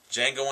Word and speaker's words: Django: i need them all django unchained the d is silent but uh the movie's